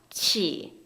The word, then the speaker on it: qi: QI는 뭐다? 키가 아니라 치. 다시 QI는 치.